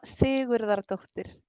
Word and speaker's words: Sigurðardóttir: I think the daughter is like not that like completely pronounced, right? Well, pretty close. So what's the real version of it? Sigurdardottir.